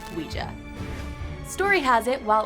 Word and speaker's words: Ouija: of the beholder sidenote i used to call it the Ouija board but after I chatted with some experts in the talking board Historical Society I learned the proper way to say it is luigia story has it while